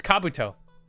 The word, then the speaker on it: Kabuto: How do you say Kabuto? It's Kabuto.